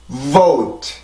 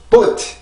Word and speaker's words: vote: 오 oat vote 다시 한번 vote 이렇게 발음이 돼요. 절대 boat 이렇게 만들어지지도 않고 boat 이렇게 소리로 만들어내는 것도 아니고 성대의 긴장으로 우리가 그 강세를 만들어줘야 돼요.